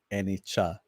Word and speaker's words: Anicca: I like Annika. But C is pronounced as chi. As in cheese, chi. Oh, okay. Anicca.